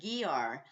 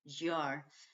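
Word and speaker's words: Győr: didn't know how to pronounce it I was pronouncing it gar but that put put off a young couple I met on the train in in total giggles and they told me it's pronounced jar and I spent three nights there I I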